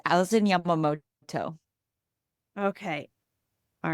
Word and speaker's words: Yamamoto: oh no it's okay it's okay it's Alison Yamamoto okay all right I'm GNA call you Allison because I'm going to butcher the daylight H how are you that's totally